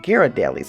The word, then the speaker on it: Ghirardelli: was good company too found Ghirardelli's all right Ghirardelli's I think that's how you pronounce it even though the headquarters is in